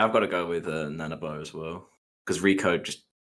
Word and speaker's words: Nanaba: Nanaba. Is that how you pronounce that? Nanaba?